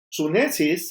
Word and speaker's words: sunesis: La inteligencia espiritual se le llama sunesis. S-U-N-E-S-I-S, sunesis, con acento en la U.